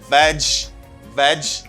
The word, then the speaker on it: vegetable: people say vegetable okay it's not vegetable it's veg veg you don't pronounce this syllable okay you don't say vegetable you say vegetable vegetable the vegetable instead of saying vegetable you just say vegetable good and let